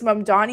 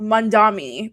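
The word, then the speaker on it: Mamdani: But it's like all of these people are mispronouncing Mundan's name and I'm just like at what point are we going to realize that it's Mandani and not Mandami?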